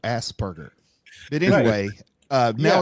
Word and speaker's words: Asperger: It's spelled with the P though, Asperger.